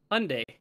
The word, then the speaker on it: Hyundai: Hyundai. It's pronounced like Sunday.